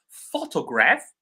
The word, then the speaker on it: photograph: The same for photograph and photography. Photograph the stress is on the first syllable. Photography is on the uh on top. Photography.